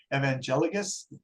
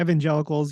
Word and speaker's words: evangelicals: very very religious uh I always mispronounce this evangelicus am I getting that right yeah evangelicals yeah yeah and so we